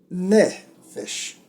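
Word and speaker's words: נפש: Que é o acento na primeira sílaba. Nefesh. Então são duas sílabas.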